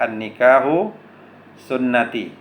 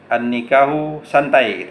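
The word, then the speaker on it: النكاح سنتي: gitu kan ada kata-kata annikahu sunnati nikah itu adalah sunahku jangan salah baca lepaslah baca jadi bisa bacanya annikahu santai Hai pernikahan santai ae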